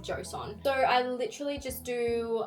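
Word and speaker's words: Joseon: I literally said it like Josian or something, but it is pronounced I believe beauty of Josson.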